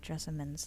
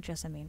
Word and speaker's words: Jessamine: i've just remembered that i think i'm pronouncing jessamine's name wrong i keep saying jessie mean but i think it's jessamine they said it in the voice over and i've already forgotten